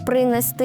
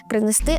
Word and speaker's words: принести: Вам треба запам'ятати, що коли ви додаєте префікс до двокодового дієслова, то наголос буде в будь-якому випадку падати на останній склад. Віднести, а не віднести. Принести, а не принести.